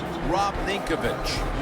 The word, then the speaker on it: Rob Ninkovich: Rob Ninkovich.